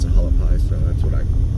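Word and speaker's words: Hualapai: infants and kindergarten it says there this is halapi h u a l a p i p a i halapi I've heard everyone else pronounce it halapi so that's what I call it definitely looks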